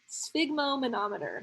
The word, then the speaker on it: sphygmomanometer: stigma numb meter stigma sphygmomanometer there it is sphygmomanometer you have to make sure that you get the right uh emphasis on the right syllable right the sphygmomanometer is